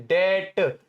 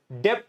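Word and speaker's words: debt: इसे हम डेट बोलते हैं, डेट, डेप्ट नहीं बोलते, प्रोनाउंसिएशन भी बता देता हूं, है ना।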